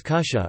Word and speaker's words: kutja: Words like kutja, pronounced as kusha, or kama, kamastog are used instead of apparently.